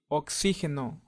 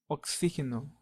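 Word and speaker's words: oxígeno: so let's move on with letter x which in Spanish sounds like a kiss and it sounds very similar to the one in box as you can see oxygeno means oxygen and it sounds pretty much the same oxygeno so let's remember the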